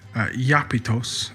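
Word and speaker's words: Iapetus: as the descendants of the Titan Japetus, both originally being pronounced Iapetos and Iapeth, an obvious transliteration from the Greek into the Semitic word.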